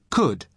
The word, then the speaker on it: could: to the pronunciation could could you spell it c o u l d but the letter L is silent could now listen to